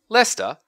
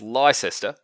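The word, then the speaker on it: Leicester: hom seexual time instead Lester which should really be pronounced liester but for some reason isn't is a really fantastic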